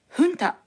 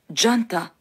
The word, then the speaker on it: junta: にあたる単語です発音には注意が必要でキャスターはフンタと発音していますこの他にジャンタハンタージュンタと発音する人もいますこちらも練習